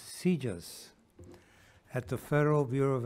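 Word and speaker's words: CJIS: criminal justice information services or CJ is pronounced seizures at the Federal Bureau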